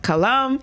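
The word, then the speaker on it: Qalam: you see it and so his last name is spelled q-a-l-a-m so his name is John colom and uh I want you to meet this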